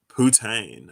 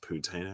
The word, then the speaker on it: poutine: don't know about that putane okay it's pronounced poutine actually i don't i'm